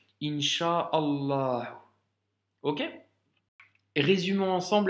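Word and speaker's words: إن شاء الله: flemme hincha en est on ne va pas s'amuser à dire in chaa oh oh oh tu vois il ya trop de l après donc on fait aussi la liaison hincha aux morts ok résumons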